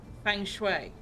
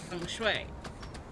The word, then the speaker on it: feng shui: Fang shui. Fang shui? Shui is reasonably close. Feng shui. But yes, I've heard it pronounced something like that.